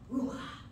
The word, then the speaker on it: Ruach: Pronounce Ruach. R-O-O. For the scholars in here, A-K-H.